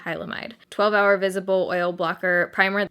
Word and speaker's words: Hylamide: I've been saying Hymalide. It's definitely Hylamide.